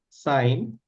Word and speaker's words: sine: So these functions are sign. So pronunciation is s okay s then comes in short it is written as s i n.